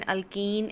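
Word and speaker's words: alkane: इसे थोड़ा सा समराइज करते हुए बेटे, सबसे पहले हाइड्रोकार्बन जिनमें कार्बन और हाइड्रोजन है, जर्नल क्लास के अकॉर्डिंग इसे अल्केन, अल्कीन एंड अल्काइन, pronunciation के ध्यान रखने, अल्केन, अल्कीन ENE और अल्काइन YNE।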